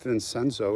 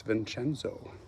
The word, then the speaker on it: Vincenzo: little bit of italian it's not vincenzo it's vincenzo but i'm gonna try not